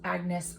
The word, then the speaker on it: Agnes: French in it, and I guess it's a French name, so it's actually pronounced Agnes Albert's Mystical Cat Shelter.